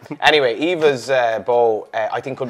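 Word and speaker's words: Aoibhe: the Run neck all just for English people by the way Evas is spelled a o i b he e obviously that reminds me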